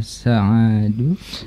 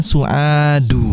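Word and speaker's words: سعاد: Iya, kam akhan laka ya Sa'adu. Ini dibacanya Su'adu.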